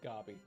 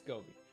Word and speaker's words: Gobi: I want I always want to pronounce it gobbyi, but it's Gobi. Gobi like the desert.